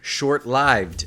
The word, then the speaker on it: short-lived: Fleeting, short-lived, in which lived is commonly mispronounced with a short I as in give, when it should have a long I as in strive.